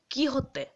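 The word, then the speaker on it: Quixote: আর তারপরের উচ্চারণটা হলো কি হতে ঠিক আছে কে ই ওয়াই এইচ ও এইচ টি ই ওয়াই এরকম উচ্চারণ ঠিক আছে কি হতে এইটা একচুয়ালি স্প্যানিশ শব্দ বুঝতে পারলে মানে স্প্যানিশ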